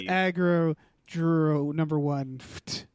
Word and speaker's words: Aggro Dr1ft: It's Aggro Drift number 1 is how it's pronounced.